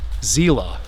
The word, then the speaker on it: Selee: so originally his last name would have been pronounced zela s John cely cemetery is right across the